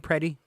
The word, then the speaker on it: Preddy: Is that how they say his name, Preddy? Yes. Preddy.